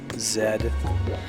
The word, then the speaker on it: zed: sounds so weird you guys pronounce it Zed in Canada I thought that was just like a England thing Zed I'm sorry but the